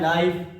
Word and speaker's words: knife: KNEE नी मतलब घुटना, KNIFE ये है नाइफ, सर क्या है नाइफ।